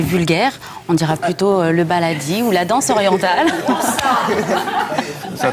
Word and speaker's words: baladi: Ça s'écrit comment d'ailleurs, le baladi? B-A-L-A-D-I, comme ça se prononce.